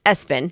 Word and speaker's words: ESPN: ESPN, pronounced Espen.